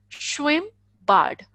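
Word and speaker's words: Schwimmbad: pool swim bad okay SCH as I have told you sure swim mm as I have told you it would be single it would be pronounced as single M sound would be at single M so ish blank in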